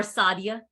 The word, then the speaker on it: Sadia: Is that how you pronounce the name, Sadia? Yeah, or Sadia. Sadia. You put the emphasis on the Sa.